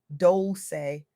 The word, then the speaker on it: Dolce: I'm your host, Dolce, pronounced Dolce, like sweet softness whispered in French.